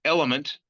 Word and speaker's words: LMNT: the World Strength Games, which is Element, which is spelled like the periodic table of elements. It's LMNT.